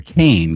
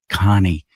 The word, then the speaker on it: Kane: And her last name is Everybody called her Kane because it's spelled K A N E. But then she confided to me later, it's actually pronounced Connie.